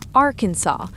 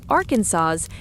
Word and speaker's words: Arkansas: The correct pronunciation is Arkansas, with the final S silent. Say Arkansas, and technically, you're breaking the law.